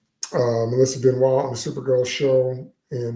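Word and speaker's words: Benoist: I refuse to call her Benoys because the proper pronunciation of her name is Benois. Uh, Melissa Benwis on the Supergirl show and the Superman and Lois show.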